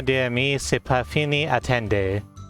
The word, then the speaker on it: attendez: Oui, le tournoi des amis, c'est pas fini, attendez. Attendes? No, you don't pronounce the Z.